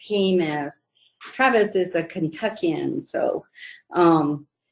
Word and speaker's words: Jemez: Travis, it's Jemez. Travis is a Kentuckian, so he might not have known how to pronounce it, but we're about 50 miles northwest